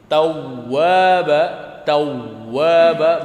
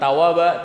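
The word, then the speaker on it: تَوَّابًا: Tawwaba bukan tawaba tapi tawwaba.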